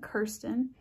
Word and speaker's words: Kirsten: in my videos and i know you can pronounce the spelling of my name a lot of different ways so if you're wondering i pronounce my name kirsten and maybe i should